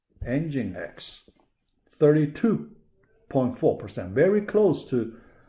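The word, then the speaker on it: Nginx: source engine x okay you pronounce first part engine last part x engine x 32.4 percent very close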